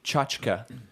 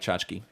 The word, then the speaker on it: tchotchke: with just saying it and then people say chachaka Jessica yeah that's what the pronunciation guide says cha cha cha chica yeah yeah but I don't like that I like tchotchke oh yeah yeah always remember where you were